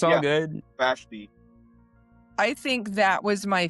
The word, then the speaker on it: Vashti: Basti. I mispronounced everything. It's all good. Vashti.